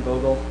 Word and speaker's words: Vogel: I'm Vogel, and this is Martine Vogel, 660 Chipmunk Drive, Woodland Park, Colorado.